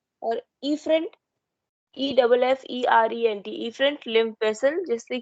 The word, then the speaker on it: efferent: Duct को बोलते हैं एफरेंट इफरेंट, ठीक है, इफरेंट लिम्फ वेसल।